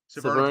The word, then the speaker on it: Severn: Severn? How do you say it? Severna Park? It's Severn, Maryland. Severn.